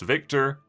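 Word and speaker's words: Wiktor: does uh tell people his name is pronounced Victor uh I don't know why he like he makes a point with that the very first character he meets he says uh my name is Victor with a W not a v but it's still pronounced Victor so I don't really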